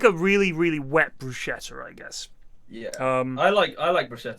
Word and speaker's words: bruschetta: __ ] good um how are we meant to say bruschetta Arab he said bruschetta I don't know how you say it that's how everyone in the UK says it because that's how it looks oh it's Brusque bruschetta oh yeah because they